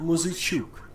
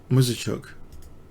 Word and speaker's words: Muzychuk: I can get you the pronunciation of her name again. Maria Muzychuk. Muzychuk. Maria Muzychuk.